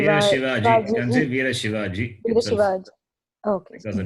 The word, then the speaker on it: Shivaji: Veer Shivaji leads.